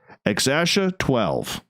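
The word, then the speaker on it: X Æ A-12: So if we put it all together, Exasha 12.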